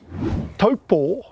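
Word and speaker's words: Taupō: Now, did you know taupo is actually correctly pronounced as in taupo with a Macron over the last O?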